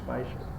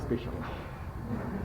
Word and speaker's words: spatial: Regional স্থান মানে spatial pronunciation is spatial. Not special.